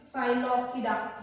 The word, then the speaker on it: Psilopsida: See the names, pronounce it Psilopsida. Here P is silent, in how it is in pteridophyte, P is silent.